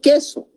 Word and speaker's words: queso: Yo puedo decir queso, pero no es diptongo porque esta U no se está pronunciando.